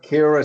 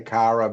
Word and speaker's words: Kyra: Kira Sedgwick. Kira, I don't know. I say Kyra, but I get corrected. My wife's always like, it's Kira Sedgwick.